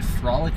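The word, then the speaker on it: Froelich: Turn left onto I believe that is supposed to be Frolic Boulevard, but it's spelled F R O E L I C H.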